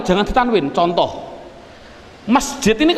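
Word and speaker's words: مسجد: Adapun bagian awalnya, ada tulisan mim, sin, jim, dal, bagaimana cara membacanya? Masjid. Mengapa dibaca sebagai masjid? Mengapa tidak dibaca saja sebagai misijid?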